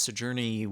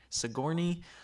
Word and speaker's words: Sigourney: And I believe it's Sojourner Weaver. Is that how you say her name? Sigourney.